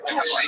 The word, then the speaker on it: Dulce: near the small town of Dulce, pronounced Dulce, New Mexico.